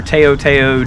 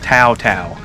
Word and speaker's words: Tao Tao: db10 the taotao or teoteo db10 since i did the last video i was corrected um you're supposed to pronounce it tau tau i'm from the south